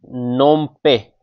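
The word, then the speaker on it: Phnom Penh: Cambodia की capital है नोम पे। यह पी एच साइलेंट और यहां पर एन साइलेंट नो पे फोन पे फोन पे नोम पे याद रखिए कंबोडिया सीपी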